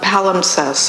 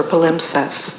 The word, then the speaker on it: palimpsest: So a palimpsest or palimpsest, depending on how people like to pronounce it, you can imagine it